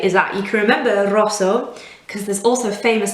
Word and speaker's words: rosso: that's a rosa and the word for red is rosso as you can hear when i say it it's really important to roll r at the start it's the difference between sounding like you know italian and and not it just adds an accent